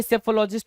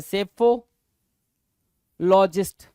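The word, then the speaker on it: psephologist: हो गया चुनाव विश्लेषक सेफो जहां पर पी क्या है साइलेंट है सेफ लॉजिस्ट सेफोलॉजिस्ट क्या होगा पी साइलेंट होगा एस से स्टार्ट करते हैं पी साइलेंट होता है बोलना एस से स्टार्ट करते हैं स्पेलिंग पी से ही स्टार्ट होती है बट इस प्रोनंसिएशन के टाइम प पी क्या है साइलेंट है जैसे सुनामी में टी साइलेंट है एस से स्टार्ट करते हैं बोलना राइट वैसे यहां पर सेफोलॉजिस्ट हुआ क्लियर है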